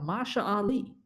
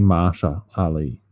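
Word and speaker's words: Mahershala Ali: I forgot to mention it's being played by Mara Ali he was famous for a movie called greenbook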